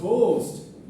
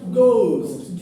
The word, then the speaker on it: ghost: We will say it ghost, but that's not the right pronunciation. The right pronunciation is ghost.